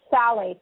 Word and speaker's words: phthalates: It's spelled p h p h a l a t e s and it's pronounced phthalates like t h a l l.